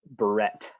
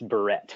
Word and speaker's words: Barrett: May I just for everybody involved, just my last name is pronounced Barrett. Barrett. Just so everybody is aware, it's Barrett.